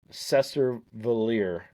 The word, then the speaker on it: Cesar Valier: And then Cesar Valier, as you once told me, is how it's pronounced.